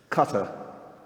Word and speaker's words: Qatar: of the country uh cutter is how you pronounce it um but um I'm